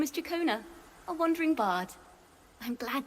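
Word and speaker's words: Ciaccona: Jeez. Shakona. So, that's how she pronounced her name.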